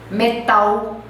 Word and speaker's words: metal: Então você põe a língua no céu da boca e pressiona.